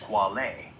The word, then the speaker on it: quale: The core philosophical concept you asked about is qualia, singular quale, pronounced quale.